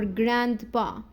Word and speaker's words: grandpa: Grandma or grandpa. لا مش هنقول بقى الدي. لا ما ننطقهاش خالص. Grandma, grandpa, grandfather, grandmother, gran. Okay. Don't say grand.